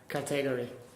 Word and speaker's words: category: That's called elision. Elision. Elision. Elision. The j. Elision. Elision. Because what we do is we take out a syllable instead of saying category.